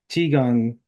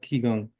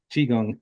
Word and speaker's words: Qigong: it's chiong not Kong chiong Chong yeah yeah there's been this standard standardizing of Chinese um words into English you know European letters so they use a q for some reason for that sound but yeah it's sometimes